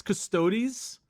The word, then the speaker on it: Custodes: custos bricky right i i think it's custodies you said custodes when i saw it oh my god bro i always got on custodies so i'm glad at least i always pronounced it right so i can get